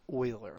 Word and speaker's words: Euler: it looks like euler it is pronounced euler like oil with an er at the end euler was a swiss